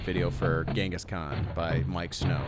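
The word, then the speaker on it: Miike Snow: for Genghis Khan by Mike Snow, and it's Miike. There's two I's, but I guess you should still pronounce it Mike Snow.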